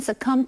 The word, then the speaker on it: succumb: OK，接下来我们看的是 succumb 这个动词，注意它的重音是在第2个音节，而且字尾的 b 是不发音的，念成 succumb。succumb 是指屈服于或者是死于，后面加上介系词 to，再加上受词。例如，After years of treatment, Vivian succumbed to cancer last year。经过几年的治疗，Vivian 去年死于癌症。或者是 We refuse to succumb to the enemy's threats。我们拒绝屈服于敌人的威胁之下。